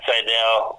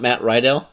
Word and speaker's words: Sydal: It's not Matt Rydell? No, it's Sydal. It's actually like Sydal, the way it's spelled, with his D-A-L.